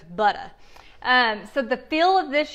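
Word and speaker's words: Butta: And that's how it's spelled, B-U-T-T-A, so it's butter.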